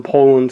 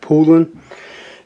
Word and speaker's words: Poulan: me for it because I always called them Poland so that's what I always heard growing up but apparently it's called like pulling but uh so whatever